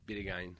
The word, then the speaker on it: Bideguain: Bideguain. Bideguain. Ouais, en français, c'est Bideguain.